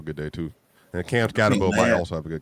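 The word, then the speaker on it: Skattebo: And Cam Scatbo might also have a good game. L should have a good day. Yeah, Scottbo, that's how you say his name.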